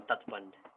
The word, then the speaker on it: tatband: We call that embankment, or in Nepali we call tatband. Right? Tat means how to say the bank, and band means to close.